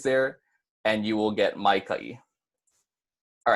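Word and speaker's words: Maikaʻi: congratulating you as well my cut it does have a no kina in it too so there is a break between the the kha and the e instead of saying my Takei since that Oh kina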